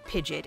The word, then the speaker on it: Pidgeot: into its final form Pidgeot or pidet if you're like one of those kinds of pronunciator at level well at